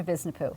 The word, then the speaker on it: Visnapuu: guests like Susan, am I saying it right, Visnapuu? Sandra Visnapuu.